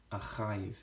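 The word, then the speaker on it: אחיו: Ve'et, Achiv, Achiv is how we pronounce it. I keep mispronouncing that word.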